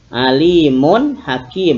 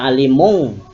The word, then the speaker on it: alimun hakim: Alimun hakim. Mun hakim. Harus dibaca jelas. Karena apa? Tanwin ketemu huruf ha. ha ini huruf idhar. Jangan dibaca alimung atau alimu, tapi ada bunyi n, alimun hakim.